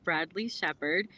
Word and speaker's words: Bradley Shepherd: deep into the Journey of our incredible guest Bradley Shepard did I pronounced that right yes yeah perfect perfect so